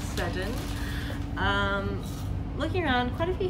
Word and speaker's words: Seddon: I was like, Seddon, is it Seddon? But apparently it's Seddon.